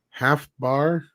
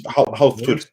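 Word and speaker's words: Hafþór: as Killer Croc, and Half Bar, Julius Halftud. Upper. Yeah, it's the B is supposed to be the Icelandic Ed. The it's pronounced the Halftud, Julius Björnsson.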